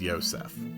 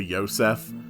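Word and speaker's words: Josef: osef well it's because that specific spelling of the name joseph is more closely associated with its original uh abrahamic origins in which case it would be pronounced yosef i have no idea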